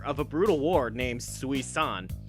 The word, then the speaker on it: Sui-San: a brutal war named Sui-san, although I think it's actually intended to just be pronounced Susan.